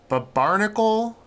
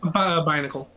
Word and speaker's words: Binacle: But even more so than Pelipper, Barnacle... Is that how you say it? Binacle.